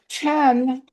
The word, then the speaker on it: Qian: Um you notice that's spelled with a Q, but it's pronounced Chen, right? Yes. Yes. Okay. And Chen is an amazing artist.